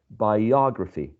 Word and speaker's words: biography: The suffix is this one, right? So the stress goes in the syllable before. In this case, biography.